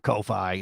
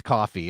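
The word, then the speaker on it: Ko-fi: So So we went you went from Kofi like it's not Kofi, it's coffee and then you went to coffee which doesn't look right.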